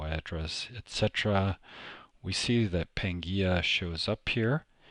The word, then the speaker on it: Pangaea: networks off into carrier finder and i say pangia because i had to ask phonetically how to pronounce it because i was